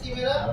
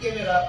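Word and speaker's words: Chimera: না এটা first time শুনলাম উচ্চারণটা হয় চিমেরা নাম, মানে আমাদের বাঙালি উচ্চারণ হলো চিমেরা, আর হচ্ছে যদি কিনা সঠিক তাহলে ক্যামেরা উচ্চারণ হয়।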